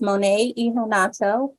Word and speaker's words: Monet Iheanacho: greetings again everyone my name is uh pronounced monetonato and I would like to welcome you to